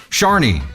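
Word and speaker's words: Siany: What was it, Shiny? She said pronounced like... Sharny. Okay.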